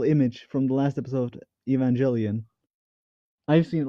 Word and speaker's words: Evangelion: are gonna talk about Evangelion I think are we you're me it's pronounced Evangelion but sure Evangelion be even